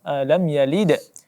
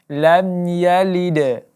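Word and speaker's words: لَمْ يَلِدْ: De walam yulad nah cara bacanya pada Qalqalah lamyalid disini karena kita tidak berhenti maka kita bacakan sejarah pantulannya sedikit saja lem yide bukan kita baca lam yalid nah ini terlalu ditekan tetapi cara bacanya cukup dipantulkan sedikit saja lime Yi De wallen laiyli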